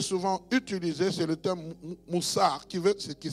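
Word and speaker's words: musar: Alors, il y a un terme en hébreu qui est souvent utilisé, c'est le terme moussar, qui s'écrit M-U-S-A-R, qui est fréquemment utilisé pour désigner le mot discipline ou l'instruction morale.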